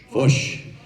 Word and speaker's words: Foch: So the French general, Foch, how would we pronounce that? Foch.